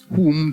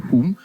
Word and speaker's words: whom: Whom does not have the sound. Anyways, W is silent in whom but widow woman that is alliteration.